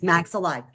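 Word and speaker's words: maxillae: there's actually two maxel and that's how it's pronounced maxel okay now spinal deformities look at these people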